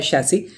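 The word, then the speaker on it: chassis: चेसिस क्या है? चीज़ें? यह वाहन संरचना जो कई चेसिस ने यह भी कहा, लेकिन यह वास्तविक है इसका उच्चारण है चेसिस।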